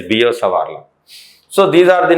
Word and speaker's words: Biot-Savart: People call it as Biot-Savart law, but actual pronunciation is Biot-Savart law.